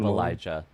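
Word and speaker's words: Ilija: It is a Serbian version of Elijah, pronounced Elija.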